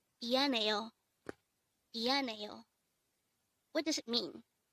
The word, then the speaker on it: 미안해요: 미안해요. 미안해요. This is pronounced as a 4-syllable word. The first syllable is mi, second syllable is an, third syllable is he, and the last syllable is yo.